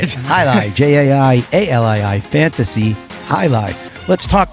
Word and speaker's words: Jai-Alai: For those of you who may not even know how to spell it, Jai. Not Jalali. All right, Jai-Alai, Jai-Alai, fantasy Jai-Alai.